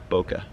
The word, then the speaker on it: bokeh: That's four syllables. Bokeh, two.